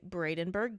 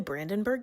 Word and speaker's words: Brandenburg: The Holocaust Memorial is right next to the Bradenburg Gate. So, it's actually the Brandenburgg Gate. And we say the name wrong throughout this entire video. Sorry, but just know it's Brandenburg. It was beautiful.